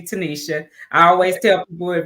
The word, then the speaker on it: Tenita: It looks like Tenita, but it's actually Tanisha.